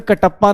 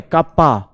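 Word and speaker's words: kappa: हैं pronounced as कापा pronounce अबे कटप्पा नहीं बोलना है कप्पा ठीक है हां प्रोनाउंसड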